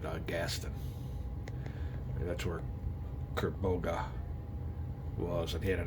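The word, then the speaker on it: Kerbogha: I've been calling him Kerbella. Kerboga.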